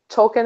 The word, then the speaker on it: Tolkien: like oh my god Tolkien actually went by so keen eye I am oh really my life is over my life is over yeah the proper way to pronounce Tolkien is tolki I refuse to you